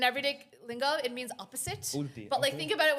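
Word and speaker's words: उल्टी: He said it's called ulti. Ulti. U-L-T-I. Ulti literally means Ulti. opposite. Ulti. In everyday lingo, it means opposite. Ulti, But okay.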